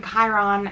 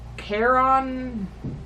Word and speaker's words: Charon: The mistake he made with Mr. Charon is the mispronunciation of his name. Because he called him Chiron, as in the centaur, and the names are very close, well, Charon didn't appreciate it.